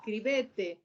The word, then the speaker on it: scrivete: Scrivete. Scrivete. Con acento en la ete.